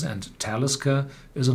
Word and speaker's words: Talisker: syllable and talisca is pronounced on the first syllable because this is not